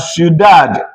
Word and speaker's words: ciudad: Ooh is added. Not you, it's ooh. We now have ciudad.